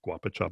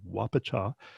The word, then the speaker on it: guapacha: spelled guapa cha and sometimes I make the mistake and I call it Guapo job but it's actually whopper cha and the idea with